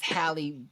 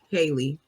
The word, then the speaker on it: Halle: or another way so it's like it's like Halle Berry but just Halle Bailey yeah I think I